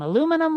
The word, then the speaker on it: aluminum: Yeah, well, it's supposed to rhyme with linoleum. It's not linolenium, liniminium. It's linoleum, aluminum, linoleum, aluminum, linoleum.